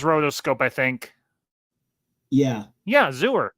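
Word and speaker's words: Xur: Yeah, Zooer. Rhymes with sewer.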